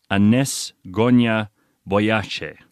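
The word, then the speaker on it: Agnes Gonxha Bojaxhiu: Her real name, Agnes Gonia Boyace. That's how you'd pronounce it.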